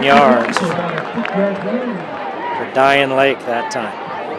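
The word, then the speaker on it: Dayan: 7 yards for Diane Lake that time. D-A-Y-A-N, pronounced Diane. Diane, better than Diane. Yeah. That's the coaches here. Is it Diane? Is it? He said, nope, it's Diane.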